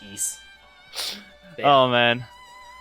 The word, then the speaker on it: Ys: wise cornicles coming up I probably mispronounce the wise there I can't it's I can't pronounce ye it's ye I you don't say the white it's just e oh man all right